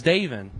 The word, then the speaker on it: David: I don't appreciate you saying my name wrong, though. Tell me. Help me out here. Now, it's David. David.